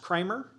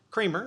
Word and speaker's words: Kramer: Is it pronounced Kramer? Creamer. Oh, it is pronounced Creamer.